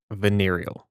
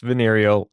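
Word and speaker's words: venereal: Veneerial. It's pronounced venerial.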